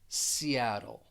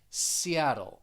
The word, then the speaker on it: Seattle: very important because though those two t's you're going to pronounce them as a flap t and the flap t